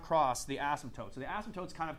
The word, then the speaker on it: asymptotes: we are okay vertical asymptotes you don't really pronounce the P you kind of do its kind of got